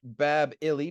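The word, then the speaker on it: Bāb-ili: And Babylon literally used to be pronounced Bab-ili, Babili, which is the gateway of the gods.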